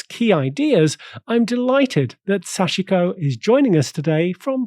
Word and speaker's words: Sachiko: some of its key ideas I'm delighted that sashiko is joining us today from Frankfurt Germany sashiko